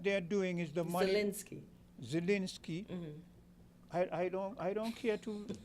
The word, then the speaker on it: Zelensky: What you say his name is again? Zelensky. Z is the first.